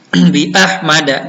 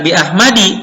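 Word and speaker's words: بِأَحْمَدَ: Bi ahmada. Jadi kalaupun ada di sini tetap dibacanya bukan bi ahmadi tapi bi ahmada dengan fathah.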